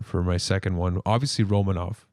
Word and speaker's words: Romanov: my second one obviously romanov first of all romano and yeah what the is that actually for real yeah apparently he requested that that was the pronunciation of his name okay because i always think of romano cheese when he says that so i'm like uh